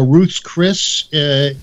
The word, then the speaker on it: Ruth's Chris: They go Ruth's Chris's, but it's Ruth's Chris.